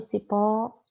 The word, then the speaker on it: cipó: Olha o cipó. Pó é a sílaba tônica, é a sílaba mais forte.